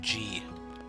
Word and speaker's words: じ: ざ So here's the annoying one, G. じ It's not a Z syllable. It's the exception in the set. G as in Jeeves.